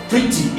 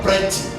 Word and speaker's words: pretty: Pretty is not pretty, is pretty. That E there is, that E letter there is pronounced as E, not E.